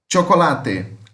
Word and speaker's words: chocolate: Chocolate. Chocolate. Chocolate. A escrita é igual, muda a pronúncia, que aqui fica com aquele som de como se fosse um T com X.